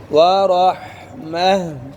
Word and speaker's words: ورحمة: من ربكم ورحمة ورحمة अब वक़फ़ करना है गोल ता की जगह उंगली रखो ऊपर गोल ता की जगह क्या पढ़ना है वरहमह ذلك تخفيف من ربكم